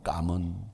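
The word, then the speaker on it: cảm ơn: 감은, 그걸 까문이라고 읽어요. 까문.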